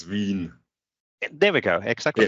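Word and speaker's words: Wien: sorry stefan what's the right way of pronunciating the the city in the local language and local it's veen there we go exactly it's it's but in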